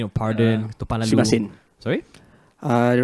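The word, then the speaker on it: すみません: Sumimasen. Sorry, the right pronunciation is sumimasen.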